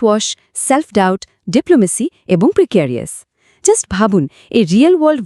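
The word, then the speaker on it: precarious: আর প্রিক্যারিয়াস শব্দটার মানে হল হাইলি রিস্কি, আনস্টেবল বা গভীরভাবে অনিশ্চিত।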